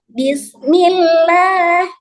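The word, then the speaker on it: بِسْمِ اللَّهِ: Lalu bismillah. Bismillah. Dibaca dengan sedikit menambah panjang pada la. Karena apa? Dua harakat tadi ya.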